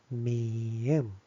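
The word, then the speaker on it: 미음: And then, this one is consonants mieum. mieum Uh mieum is kind of sounds like ma, ma. Which is m sounds, m sounds.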